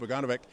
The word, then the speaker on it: Bogunovic: Chill TV, with the PPC candidate, Boganovic. Did I pronounce that name right?